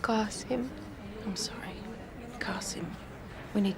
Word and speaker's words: Qasim: What about your brother, Kasim? Maybe he can help us. It's pronounced Qasim.